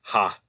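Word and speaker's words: 葉: Anyway, but in Japanese, a leaf is just ha, like H-A.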